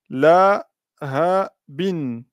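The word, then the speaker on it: لَهَبٍ: Et donc, on ne dira pas bi. On dira bin. Bin. Et donc, ce mot-là se lit la, toujours de la droite à la gauche, et syllabe par syllabe. La, ha, bin.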